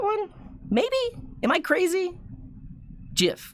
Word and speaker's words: GIF: maybe am i crazy jiff with the soft g we could call it